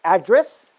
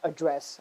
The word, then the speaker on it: address: this is the trick whenever you're using the word as a noun you will always stress on the first syllable okay let me repeat